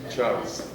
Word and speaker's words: Charles: Cuando yo estudié ingeniería, uno decía la ley de Charles, ¿sí? Charles, y lo pronunciaba como en francés.